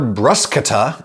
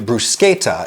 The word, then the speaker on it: bruschetta: Italy would say something closer to bruschetta, and since this basic recipe of grilled bread with stuff on top does hail from Italy, one could argue pretty convincingly that bruschetta is therefore the authentic pronunciation and therefore should be favored.